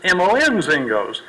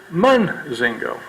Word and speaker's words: Monzingo: Zingos, M.O.N. Zingos. Even my pronunciation of my last name is Monzingo. Some of them pronounce it Munzingo.